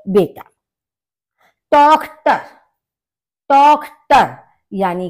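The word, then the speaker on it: Tochter: अब यहां पर भी आपने देखा होगा ओ वॉवेल है, उसके बाद सी एच आपका आया है, तो ये आपका खा का प्रोनाउंसिएशन होगा, तो आपका हो जाएगा टॉक्टर यानी कि डॉटर।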